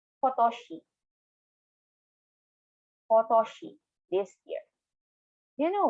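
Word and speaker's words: 今年: Kotoshi. Slowly per syllable. Kotoshi.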